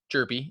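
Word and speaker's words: Hjerpe: Cooper Jerpy is how you say his name, by the way.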